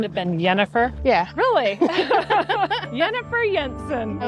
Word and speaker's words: Jennifer: It's not pronounced Jensen. It's Jensen. Yensen. Yeah. My first name had been Yennefer.